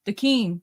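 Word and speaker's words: Daken: Dakin.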